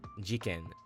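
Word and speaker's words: 事件: Notice how in this word, jiken, this devoicing doesn't happen because ji already has dakuten and is pronounced with the vocal chords, so i doesn't get devoiced.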